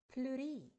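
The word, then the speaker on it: pleurae: c e s and I have to say or pronounce it suracis so Rex in singular form becomes thoracies in the plural form I have replaced the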